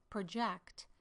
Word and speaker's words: project: For two-syllable words, I would say project versus project. Notice how those two words are very different in meaning if pronounced differently with the syllable stress.